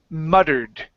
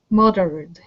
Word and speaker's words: muttered: So when you have a double T that's surrounded by vowels and there isn't an N at the end of the word, we can pronounce a flap T here.